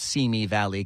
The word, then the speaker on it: Simi Valley: That is the proper pronunciation, by the way, of that. It's Simi Valley, California.